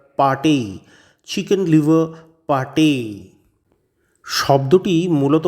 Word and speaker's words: pâté: আপাততভাবে এর ইংরেজি বানানটা দেখলে মনে হবে লিভার পেট। কিন্তু ওই এ এবং ই এর উপর দুটো ভিন্ন মাত্রার আঁকড়া থাকায় এর উচ্চারণ হবে লিভার পাটেই।